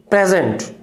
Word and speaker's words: present: प्रेजेंट बोल रहे हो, प्रेजेंट, clear, प्रेजेंट it means noun, first syllable पे स्ट्रेस। प्रेजेंट, प्रेजेंट, जेंट पे स्ट्रेस दिया, इट मींस ये वर्ब है।